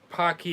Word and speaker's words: Paqui: seen the pocky challenge it's pronounced p-a-c-q-u-i pocky and i think i